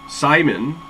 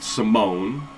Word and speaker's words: Simon: So 3D printing professor, he also has, it's a smaller version of this, and it's called Simon. I pronounce it Simone, and I think that's one of those tomato things, but it's also kind